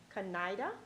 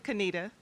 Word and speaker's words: Kaneda: Kaneda, Director of Marketing. Did I pronounce that correctly? It's Kanita.